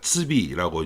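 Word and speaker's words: 赤壁: 츠비라고 이제 발음을 하는데 적벽이라고 하는 시가 있습니다.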